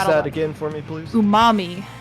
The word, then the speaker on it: Umami: Umami, because it's like the flavor umami.